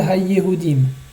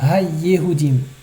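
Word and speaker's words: הַיְּהוּדִים: Ul abed et kol ha-yehudim. Attention à bien prononcer le dagesh de yehudim. Ha-yehudim.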